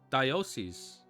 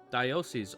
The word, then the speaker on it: diocese: Diocese. Diocese.